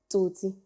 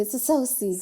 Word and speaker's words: Tsotsi: Tsotsi. Sweet. Or as the Americans say, Sosi.